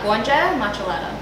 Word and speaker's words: Gonxhe Maqellara: of your name uh guanjang matchalata i know right so that out would also become a ch the q is a ch so maq is a ch sound like much